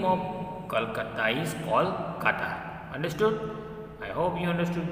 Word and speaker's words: Kolkata: Its pronunciation like this, Kolkata. Okay, and another thing you have to remember that the new name Kolkata is getting as Kol and Kata.